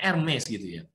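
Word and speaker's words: Hermès: Hermes gitu kan hermi itu kenapa Hermes ya bacanya MSG Kenapa kok bisa bisa-bisa bisa Harganya ratusan juta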